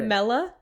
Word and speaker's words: Mela: Mela.